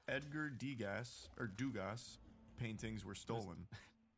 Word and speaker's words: Degas: It's just Degas. Degas. I've got the pronunciation right there. I thought I saw an S at the end of that. Well, I mean, it is, you but did, it's but it's French.